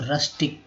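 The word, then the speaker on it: rustic: देखिए, यहाँ यू जो है अ के रूप में इसका उच्चारण हुआ था, आर यू से र हो गया, र प्लस अ। ठीक है, र प्लस अ क्या हो गया, र हो गया। तो रस्टिक दो बार पढ़ेंगे, तोड़ेंगे, रस्टिक।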